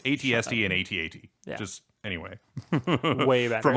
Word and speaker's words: AT-AT: Vader one yeah which I don't I don't pronounce it at at I just spell it out AT-AT yeah I think that